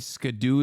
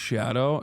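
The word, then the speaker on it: Scadu: 14 it's 14 oh did chat know that skadoo is pronounced shadow no just don't get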